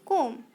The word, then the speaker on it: comb: And comb in the word comb, B is a silent letter, so we should pronounce comb.